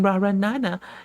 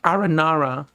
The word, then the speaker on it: Aranara: time for believing in raranana and got mad at me for saying the name wrong because it's supposed to be aranara I've seen Rara Nana